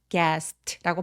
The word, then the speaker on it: gasped: 여러분 여기 gasped라고 비읍 받침 정도로 처리해 주시고 gasped gasped라고 발음해 주세요. everyone gasped.